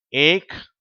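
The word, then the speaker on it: ache: அந்த வார்த்தைகளில் CH சேரும்போது இந்த H என்ற உச்சரிப்பு வராது. அதுக்கு பதிலாக இக்குன்ற உச்சரிப்பு தான் வருது. நான் இப்பொழுது வார்த்தைகளை வாசிக்கிறேன். ஏக், ஸ்டமக், அன்பு மாணவர்களே, ரத்னா கல்வி நிலையத்தின் சார்பில் உங்கள் யாவரையும் வாழ்த்துகிறேன்.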